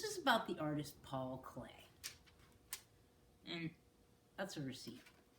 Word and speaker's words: Klee: So this is about the artist Paul Klee. And that's a receipt. Paul Klee, pronounced Clay, was born near Bern, Switzerland in 1879.